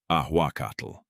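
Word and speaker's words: ahuacatl: The conquistadors freshly arrived among unfamiliar plants and animals heard the locals say awakatal and simply couldn't pronounce it. That final TL sound natural in nuatal was pure torture for the Spanish tongue.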